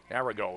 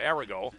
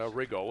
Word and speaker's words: Arago: at 14 for gadet arago is the correct pronunciation I I hustle over to the coaches up here after the first quarter to find that out arago as I would expect nothing less from you not a Rigo it's arago I had